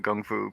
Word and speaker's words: kung fu: that the crane style kung fu and yes i do say kung fu instead of gung-fu because i'm an american damn it we pronounce